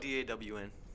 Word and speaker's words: Dawn: Ah, what about D-A-W-N? Dawn. Dawn. They're Dawn. both Dawn. They're both Don.